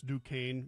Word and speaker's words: Duquesne: I looked up how to pronounce Duquesne yesterday prepping for the show, mm-hmm. and I'm like, oh, it's like Duchesne. Mm-hmm. So that made sense to me.